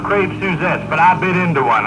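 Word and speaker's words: crêpe Suzette: but like last night we had crap suzettes for dinner i know it's pronounced crepe suzettes but i bit into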